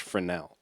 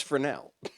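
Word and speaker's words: Fresnel: Um, but other normal people who don't have crazy nerds for parents don't know that the word frenel is pronounced frenel. So it's frenel. It's frenel.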